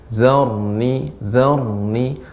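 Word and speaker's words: ذرني: Kemudian dzarni, Ibu, ya, ini agak sedikit dialirkan. Zarni, tidak terlalu berhenti. Nah, ini kan terlalu cepat. Zarni, nah demikian. Zarni. Nah, seperti itu.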